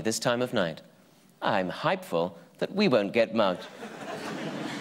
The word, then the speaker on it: hypeful: Our final word this week is hypeful, pronounced hype-ful.